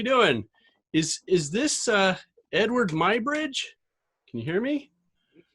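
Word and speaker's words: Eadweard Muybridge: is is this uh edward my bridge can you hear me it is but i prefer if you pronounce it edward edward my bridge wow this is amazing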